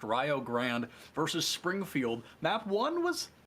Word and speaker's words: Rio Grande: two between rayo grand not rio grande i promise we are not saying it wrong it is pronounced ryo grand versus springfield map one